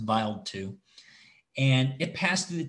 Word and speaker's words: Wild 2: stardust this is the comet wild 2 i think it's pronounced vile too and it passed through